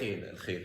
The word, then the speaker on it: Al Khair: And so, the organization I'm talking about, you guys, is called Al Khair. And I'm probably not saying that completely. Am I saying that right? Al Khair, yes.